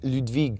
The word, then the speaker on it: Ludwig: our beautiful child Ludwig my mom calls me Ludwig she's French so she has a French accent on the German root she studied German yeah